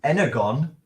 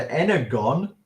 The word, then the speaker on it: Energon: Energon, I know we pronounce it Energon, but G plus O. Hey, I'm a language teacher. G plus O cannot be a soft G. It's a hard G. So it's either Energon or it's wrong, right?